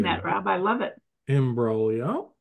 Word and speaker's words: imbroglio: Imbroglio is... It's Italian. That so way, there's a G yes. in there. Silent G.